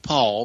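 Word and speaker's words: Paugh: It's Pastor Paul, P-A-U-G-H, or call to Decision Ministries. The address is 224 Hurd. That's spelled H-U-R-D.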